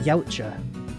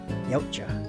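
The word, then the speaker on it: Yautja: their official name is the yaa I think I'm pronouncing that right it's uh y a u t j a yaa but yeah if you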